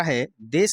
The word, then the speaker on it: हिंदू: के संपर्क में आई तो सा का उच्चारण यहां पर ह की तरह करने के कारण यहां पर इन्होंने क्या किया सिंधु का जो नाम था इसको हिंदू कर दिया यानी कि यह जो